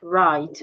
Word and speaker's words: right: Also, when we have GH after a vowel, the H becomes silent, as in thought, right, way.